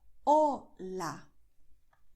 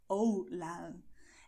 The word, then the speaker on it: hola: So you will say hola. You have o, you have a, you have hola. Someone who speaks English and speaks Spanish with a strong English accent would say hola. And this sounds not how a native speaks, okay?